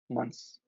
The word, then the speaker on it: months: fun fact you know with English language when when I when there is months like six months so you pronounce it as s instead of th but when you pronounce month like one month is you grass it as th month but I didn't